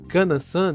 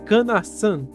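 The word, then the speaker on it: かなさん: mas fala que ele havia pronunciado Kana-san de forma errada, sendo certo falar Kana-san, dando um enfoque no san.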